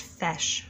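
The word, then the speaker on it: feis: It's pronounced fesh.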